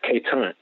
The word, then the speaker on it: Quetant: that it's so qu ETA and see it's K time some people put the crook in the beginning